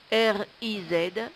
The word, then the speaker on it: riz: Un riz, le riz. R-I-Z, le Z ne se prononce pas.